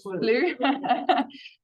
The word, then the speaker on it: Slough: Slough. That's the stubborn UK in me that refuses to pronounce that correctly.